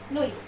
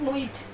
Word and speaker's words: nuit: It's jour, bonjour, après, soir, nuit. It's not nuit, nuit. Okay, because French is a soft sound of language. There is no use of hard sound.